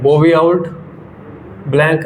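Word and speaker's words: Bouveault-Blanc: T pronunciation वाले बताओ भैया क्या है इसकी प्रोनाउंसिएशन बताओ हैं सर बोबी आउल नाम का पूछ रहे हो नाम Bobby आउल्ट blank reduction Bobby आउल्ट blank reduction है ये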